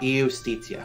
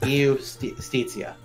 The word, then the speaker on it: Eustracia: Eustracia. Okay, so now the U is pronounced like an O? It's like an O, yes. Eustracia.